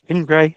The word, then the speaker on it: Gindre: Uh today we've got another special guest, Nick Pingray as he told me how to pronounce his surname so uh we should be should be good on that.